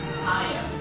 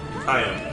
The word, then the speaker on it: Hyam: Hiam. Hyam. So, hi, and then, but it's spelled with an A.